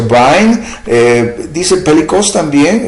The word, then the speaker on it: Vine: El diccionario Vine, que se pronuncia Vine, dice pelikos también y significa cuán grande.